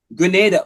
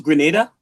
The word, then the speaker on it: Grenada: No, it's just pronounce Grenada like that. Grenada. That's how Caribbean speakers pronounce Grenada.